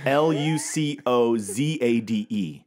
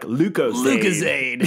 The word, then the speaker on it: Lucozade: how's that spelled I Luc oza de okay so it's like lucozade yeah Lucas that's probably it that's really it lucozade lucozade lucozade now it's not